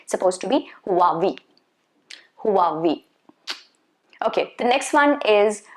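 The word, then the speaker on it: Huawei: it's supposed to be who are we so there is going to be a slight sound of h okay who who who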